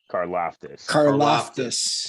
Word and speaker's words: Karlaftis: Karlaftis. That was my pick. That was my pick coming up next. Well, damn. Karlaftis goes 27 to the Tampa Bay Buccaneers.